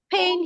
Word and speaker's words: pain: I have pain here. What do we call it? Pain. Pain. Pain. Pain. Pain. Pain. One is short vowel. Another Pain. one is long vowel.